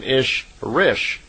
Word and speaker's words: Ishrish: And a female Ishwish is called an Ishrish, I-S-H-R-I-S-H. So in effect, Semjases is an Elo Ishrish, is how they would pronounce it in her language.